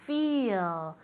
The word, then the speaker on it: feel: Porque es una E, pero realmente se pronuncia como si fuera una I.